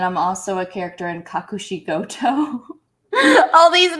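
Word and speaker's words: Kakushigoto: that and then i'm also a character in kakushikoto all these names that's super super easy to pronounce i mean okay is that a funimation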